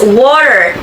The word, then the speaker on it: water: Next, the word water in American English is often pronounced as water. The T can sound more like a soft D.